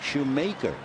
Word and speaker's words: Schumaker: Shumacher it looks like shoe maker m a k r but he pronounces it Shoemaker the Hal Schumaker was